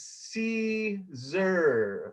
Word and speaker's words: Siser: It is Siser, like the salad.